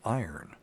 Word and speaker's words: iron: so um there you go anyway AR say Arn a RN AR Arn there you're from Tennessee you can get away with it the the correct pronunciation is iron iron IR like I you're mad at me